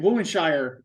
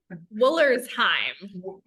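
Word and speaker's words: Woollersheim: Foolery, and I can't, Woolenshire. Is that how you say it? Woolenshire? I say it wrong. Woolersheim. Well, whatever, But I will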